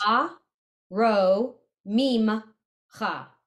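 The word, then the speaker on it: ארוממך: Because the shva doesn't get its own sound. It's not its separate syllable. It gets, if two vowels go a walking, the first one does the talking.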